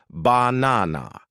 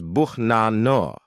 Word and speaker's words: banana: You probably want to say banana. 3 clear A's. But a native speaker says buhnano. The first A is lazy.